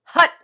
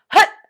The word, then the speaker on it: Hat: And the mantra is Hat, spelled H-A-T, pronounced hut, and it comes from our belly. Like if you've ever played football, it's kind of like, it feels like you would hike the football, like hut, hut, and your belly goes